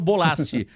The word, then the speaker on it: Bolasie: negócio de pronúncia né mas eu acho que é o bolace a pronúncia correta fez uma ótima temporada